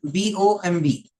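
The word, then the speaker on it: bomb: from the First Column c o MB and b o MB C MB and b o MB okay again here we pronounce these words as Comm and bom uh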